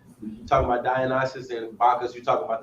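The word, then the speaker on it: Dionysus: Without talking about I think I think it's pronounced Dionis, right? Talking about Dianisis and Bakas, you're talking about the same deity but different culture, right?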